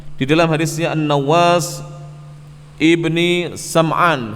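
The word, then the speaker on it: سمعان: Kata beliau, faqad jaa fi haditsin Nawas bin Sam'an at-Tawili, maka sungguh telah datang di dalam hadisnya An-Nawas ibni Sam'an, sebagian ulama bacanya Sim'an, At-Tawili, hadis yang panjang.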